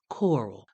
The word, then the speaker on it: Coral: when he was young they would say his name like country people tend to do with that draw you know that made that one syllable name Carl sound like the two syllable word coral Carl hey Carl you